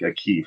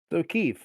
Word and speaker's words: O'Keefe: It sounds like a Keef every time you say it, and it's just throwing me off. O'Keefe, like from Band of Brothers.